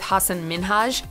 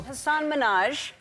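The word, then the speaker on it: Hasan Minhaj: seconds into the interview Hassan Minaj yes no really well my name is Hassan minhaj oh she pronounced it as Hassan Minaj rather than Hassan minhaj prompting him to correct her not only that she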